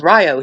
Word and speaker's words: Rio: When I was going to college at the University of Rio Grande here in Ohio, Rio rhymes with Ohio. Everybody's like, Rio Grande. No, it's Rio here.